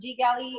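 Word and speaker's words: GGally: Because I haven't personally worked with Ggalley or Ggalley or whatever. It's Ggalley. I've been mispronouncing it.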